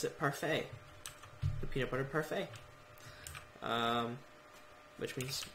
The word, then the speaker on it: parfait: people yeah means perfect in French how you pronounce it parfait the peanut butter parfait which means which means